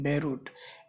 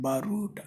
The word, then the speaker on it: Beirut: pronounced in European languages as in Beirut it is always Beirut it is not barood or something else and here ah is